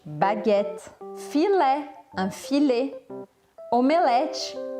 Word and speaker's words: filet: A pronúncia sempre aqui é diferente. Baguette, baguette. Filé, un filet.